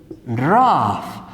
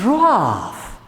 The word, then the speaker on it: rough: You pronounce F, you say rough. What is rough?